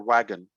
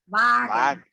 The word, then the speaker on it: Wagen: Okay, Volkswagen or wagon? Sorry? How do you say the car brand? BMW? No, Volkswagen. Wagon. Wagen.